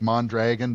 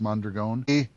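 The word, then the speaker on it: Mondragon: It's it looks like Mandragon, but I think it's pronounced Mandreon.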